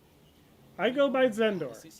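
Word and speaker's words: Xendor: Yeah, my my name is uh pronounced Zenor. Uh the X is kind of pronounced like the beginning beginning of Xerxes. So X E N D O R but instead of sound the X pronounced a Z sound.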